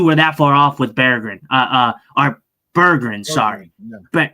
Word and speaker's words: Berggren: It is not Berggren, it is Berggren. That is exact. So Jason's putting the bear up there. It's Berggren, and that's how he told Curbs to pronounce his name.